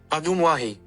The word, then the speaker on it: Ajumwahi: And here's how Google says to pronounce the state park's name. Ajumwahi.